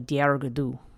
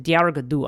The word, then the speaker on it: Dearg Due: And, okay, this is said to be a dark tale of a dreaded vampire, the Dearg Due. Actually, the Dearg Due. I don't remember there's an extra syllable there.